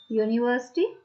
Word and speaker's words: university: Other examples: when the vowel U sounds like U, it gives y sound, by sound, which is called by sound. Like university, university. Pronunciation is university.